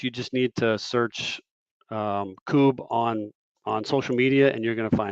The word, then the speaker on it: Kubb: They're all over, and you really pretty much you just need to search Coob on social media, and you're going to find something.